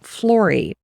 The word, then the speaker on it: Flory: In 2017, Lorie formalized a business and she named her studio Flory and it rhymes with Lori and I love that.